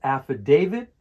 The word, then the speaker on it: affidavit: For the pronunciation of affidavit, the stress is on the third syllable, affidavit. Affidavit.